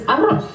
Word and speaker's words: arroz: Because Spanish people, in Spanish, rice is arroz.